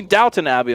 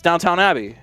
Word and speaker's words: Downton Abbey: Abby you see me Downton Abbey I'm like no I don't you're saying it wrong it's an Abbey it's downtown it's Downtown Abbey I don't know what